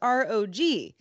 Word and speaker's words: ROG: He says, Asus's ROG is an initialism because it's ROG, like FBI or CIA, but people say it wrong.